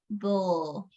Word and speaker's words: bull: uh go Emerson huh you didn't pronounce b b b b it's not B it's b b it's hard to explain but it's like yeah it's not you it's a bull okay should should should